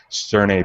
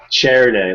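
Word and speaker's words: Černé: He was drinking a Sterne Pivo. Did I say it right, Chris? Chernay, like a chair.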